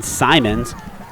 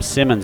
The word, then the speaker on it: Simons: immediately there by ben simons i was uh pronouncing him simmons earlier i guess it only has one m so uh there's no